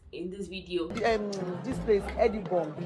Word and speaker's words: Edinburgh: It's not Edinburgh, it's Edinburgh. Yeah. So I think I think it was even referenced in one Nigerian movie. I'm going to try and put it in this video. This place, Edinburgh.